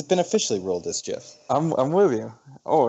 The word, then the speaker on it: GIF: it without saying the word gif was the pronunciation oh it's jiff and it's been officially ruled this jiff I'm with you oh it's official yeah the